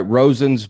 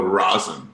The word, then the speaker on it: Rosen's: i saying this right rosen's bagels you nailed it yeah the most common mispronunciation people go rosin like right okay rosin